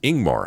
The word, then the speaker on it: Ingmar: and not us Grim ingmar is pronounced ingmar I got that one right leading with a vowel sound I don't know if